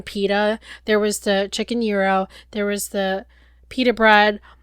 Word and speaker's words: gyro: Euro yes it's pronounced Euro not gyro I think there's like a little roll to it too cuz we kind of